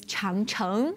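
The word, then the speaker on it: 长城: Por ejemplo, tenemos la Gran Muralla, la pronunciación es Changcheng, y usted tiene la ciudad antigua Changchang.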